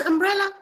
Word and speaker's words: umbrella: this bit clear like plumber is plumber but umbrella is umbrella it is not umbrella no the B is not silent all right so you